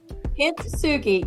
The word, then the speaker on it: Kintsugi: Kintsugi.